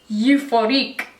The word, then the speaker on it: Euphorique: It's in number 65, Euphorique, like euphoric I guess, but it kind of sounds like euphorique when I pronounce it in French.